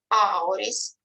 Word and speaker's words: auris: Auris, we pronounce ow like owl.